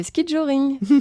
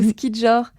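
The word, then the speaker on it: ski-joring: Le ski joring, ou ski jor. Ça s'écrit S-K-I-J-O-R.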